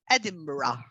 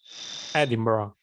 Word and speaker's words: Edinburgh: Princess Elizabeth married Philip Mountbatten, Duke of Edinburgh, on 20 Edinburgh. No, the pronunciation of this country, of this place that is quite very unusual, is Edinburgh. Edinburgh.